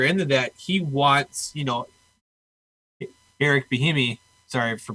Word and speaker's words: Bieniemy: Yeah, I mean, and, to go further into that, he wants, Eric Bieniemy, sorry for pronouncing the name wrong.